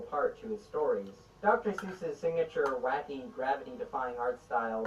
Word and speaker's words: Seuss: Seuss, which originally is supposed to be pronounced Dr. Seuss, but I'm not going to say that because there's probably only like 5 people on the planet who pronounce it that way, and Geisel himself eventually switched to the anglicized version.